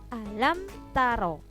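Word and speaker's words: ألم تر: Robbuka Bi ashabil fiil alam taro tidak boleh alam taro gak boleh dengung jadi jelas alamtaro key nah caini juga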